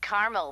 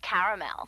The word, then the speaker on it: caramel: that's what I said Tina actually you said caramel when it's pronounced caramel can't we just call it